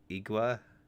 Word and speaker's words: IXWA: It's supposed to sound like a click sound. So in English it could be IXWA, but phonetically Q or would be closer.